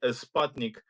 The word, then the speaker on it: Sputnik: We have an American uh Sputnik or as Americans say, Sputnik uh as a guest straight from Kazan, right?